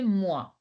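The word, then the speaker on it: moi: you pronounce me kushel what is oi oi I said was U mu you cannot say is so you have to say mua okay unmo your turn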